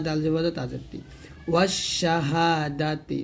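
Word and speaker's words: والشهادة: হা, দাল জবর তাজাতি, ওয়াশাহাদাতি। যদি আমরা এখানে থামি তাটা সাকিন হবে, হা সাকিন। এরকম আলিমুল গায়বি ওয়াশাহাদাহ, এখানে দাতি আছে, আমরা দাহ বলবো।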